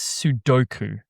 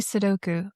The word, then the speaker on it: sudoku: Is it a schwah? Is it awah? So, it's more like awah.